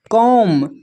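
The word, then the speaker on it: comb: यहाँ पर देखिए कॉम, कॉम में जो है बी साइलेंट है।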